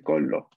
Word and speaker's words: collo: Capaz se escucha mínimamente esta doble L cuando se pronuncia, pero hay que prestarle atención, ¿ok? Una cosa es decir, por ejemplo, a ver, no existe, pero digamos, il colo. Otra cosa es decir, il collo.